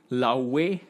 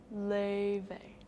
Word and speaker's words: Laufey: I don't know how many of you have heard of Laufey. I think that's how her name is pronounced. She's from Iceland. Laufey.